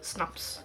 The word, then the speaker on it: Snaps: It's my kitty Snaps. Or well, Snaps, as we pronounce it in Swedish.